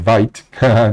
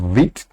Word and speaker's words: Vite: are going to be using VIT but I like pronouncing it vite sounds more like that in Spanish and then here are